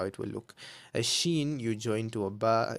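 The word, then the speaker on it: شين: Then we have sheen. Okay? Okay. So, it's a sh sound. Sheen, which is a scene with three dots on top.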